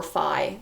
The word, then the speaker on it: Phi: so the golden number which we write as this symbol fee it's a great letter um or Phi depending on how you feel like pronouncing it um the golden